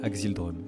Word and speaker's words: Axildrum: Et donc ça s'écrit A-X-I-L-D-R-U-M. Vous pouvez répéter ? A-X-I-L-D-R-U-M, Axel Drum, ouais.